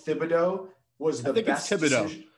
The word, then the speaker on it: Thibodeau: fan i will say thibodeaux was the best it's not the h is silent that's not how i